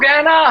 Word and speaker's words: Guyana: But perhaps as you Have you been to Guyana, Harshit, ever before? No. But you just pronounce Guyana the way the Guyana.